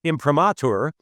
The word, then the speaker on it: imprimatur: It's a book and video study of the commandments, which have been given an imprimatur. I have to always remember to pronounce that word properly, Ed.